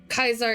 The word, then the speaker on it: Kaiser: Kaiser is the proper pronunciation.